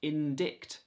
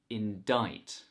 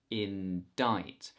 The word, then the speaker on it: indict: it should be pronounced indict but actually this word is indict indict the stress is on the second syllable and we don't pronounce the c in diet indict